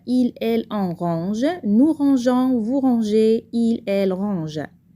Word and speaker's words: rangeons: Mais on doit ajouter un E muet à la première personne du pluriel nous pour garder le son J. Nous rangeons.